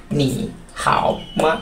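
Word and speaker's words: 你好吗: টোনটা উচ্চারণ কেমন করে এর উচ্চারণ ভঙ্গিটা হচ্ছে উপর থেকে নিচে নিচ থেকে উপরে তাহলে উচ্চারণ করবা কেমন করে নি হামা নি হামা ওকে হাউ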